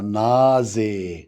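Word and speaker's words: Nase: اما دي بقى الان قول معايا نازي. نازي. ما هي الاس لما بتيجي قبل الاخر ساعات تتنطق زين.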